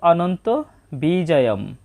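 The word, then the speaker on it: অনন্তবিজয়ং: আমরা প্রথমেই দেখতে পাচ্ছি অনন্ত বিজয়ম, এটা বাংলা উচ্চারণের মতোই হবে, তবে শব্দের শেষে যদি অনুস্বর থাকে তার জন্য অর্ধেক ময়ের মতো উচ্চারণ হবে অনন্ত বিজয়ম।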